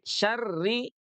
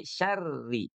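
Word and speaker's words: شَرِّ: Jadi syarri sama seperti ayat yang sebelumnya di atas itu dia dibacanya tarqit ya dia dibacanya tipis tidak syar tapi syarri.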